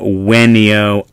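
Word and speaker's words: venio: right, we talked about the V being pronounced as a W. So just to take a look at some words here, waleo, wenio, awis. All right, so all of those V's are going to be pronounced like W's.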